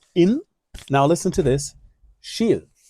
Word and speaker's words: Kil: In now listen to this sheil. Shil is the name of the town. It's not Ke or kill. The K often is pronounced sh.